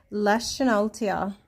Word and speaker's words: Leschenaultia: So, I looked up the pronunciation and it seems to be Leschenaultia. Leschenaultia, which sounds very German to me.